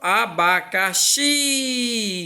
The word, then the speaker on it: abacaxi: Ó, aqui, ó, abacaxi. Eu pronuncio com mais força, então, ó.